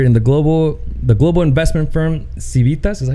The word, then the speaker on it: Civitas: Representative Anchia is a co-founder and managing director in the global investment firm Civitas.